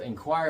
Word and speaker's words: inquire: I'd like to inquire about that. I need information. And so I'm making an inquir about that. In choir in choir choir like singing, right? Choir, but it's spelled totally different.